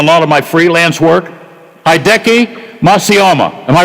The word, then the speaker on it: Hideki: Hideki Matsuyama.